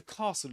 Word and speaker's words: castle: Did you know that the S is silent in this word?